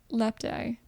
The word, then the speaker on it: lapti: They'll make lacti out of you. Lapti. It's pronounced lapti, and they're made of bark.